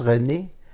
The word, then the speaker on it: Reine: C'est Reine qu'on prononce René. Ça a l'air de Reine.